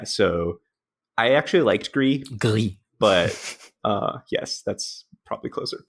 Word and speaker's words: Gris: I mean, that's how you say it in French. I'm sure it's said differently in other languages, so that's how I say it.